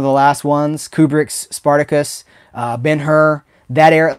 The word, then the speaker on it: Ben-Hur: And, I think I like Spartacus better than Ben-Hur too. I haven't watched Ben-Hur. I always feel like I should say Ben-Hur, but it's Ben-Hur, right? We pronounce the H.